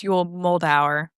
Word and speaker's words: Yul Moldauer: It's Yul Moldauer, but you're fine. I'm from all over, and it just really makes pronouncing things hard, apparently.